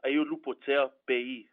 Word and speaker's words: Aiolupotea-Pei: So it's called, my last name is Ayolupotea Pei.